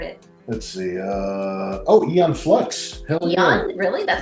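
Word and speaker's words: Aeon: I've never heard it let's see uh oh ion flux hell really that's how you say it yeah Eon flux is awesome what's that it's a cartoon from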